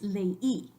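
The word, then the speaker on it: leí: But if that were true, then this word would be pronounced ley, in una sílaba, ley. And we know it's not ley, it's lei.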